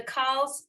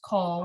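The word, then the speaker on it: כל: And the kals are often going to be pronounced kol.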